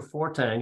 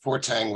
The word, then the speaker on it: Fortgang: I'm Fortgang is how it's actually pronounced, but all through my youth, Fortgang was my nickname because every year when the school year began and the teachers read the names, they always said Fortgang.